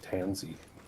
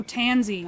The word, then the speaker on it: Tanzy: It's like Tanzy. Oh, Tanzy.